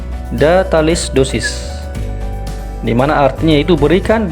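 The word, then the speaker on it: da tales doses: Kemudian cara pengucapannya adalah datalis dosis, di mana artinya itu berikan dengan takaran sebanyak itu.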